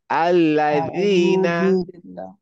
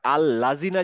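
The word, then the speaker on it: الذين: আল্লাজিনা আল্লাজিনা আল্লাজিনা আল্লাজিনা মনে রাখতে হবে আল্লাজিনা যেন না হয় আল্লাজিনা অনেকটা দ তায়ের মত তা এর মতই উচ্চারণ হবে দা এর মত উচ্চারণ হবে কিন্তু জীবটা একটু বের করে আনতে হবে আল্লাজিনা আল্লাজিনা কাদালিকা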